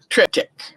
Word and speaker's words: triptych: an art piece and triptych is spelled t-r-i-p t y c h tritic okay so now let